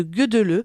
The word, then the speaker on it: Gödöllő: bien, que vous ferez route en direction de Gödöllő. Ça s'écrit Godolo, mais alors il y a des accents un petit peu partout.